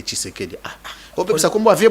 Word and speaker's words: Tshisekedi: Kisekedi te Tshisekedi.